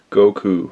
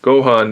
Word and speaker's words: Gohan: exclusive Dragon Ball Z Goku, or Gohan, of course I say it wrong. Gohan, this is not Goku, very big difference.